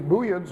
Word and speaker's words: Buyid: They're also known in Arabic as Buwayhids, because the same word can be pronounced in Arabic Buway instead of Buyeh, and that fits Arabic grammar better than Buyeh, but it's a Persian name, so it's Buyid is the correct one.